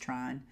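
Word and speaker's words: Trine: of the Tron yarn I guess it's pronounced trying t-r-i-n-e that spin cycle has come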